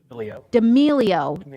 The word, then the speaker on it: D'Amelio: D'Amelio.